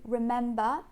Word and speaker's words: remember: on to remember um the first syllable is very relaxed and unstressed don't soften it and then in the main syllable in the stress syllable we have the egg vowel again so you want to make sure that even though you won't see your tongue very well that is still at the front don't like pull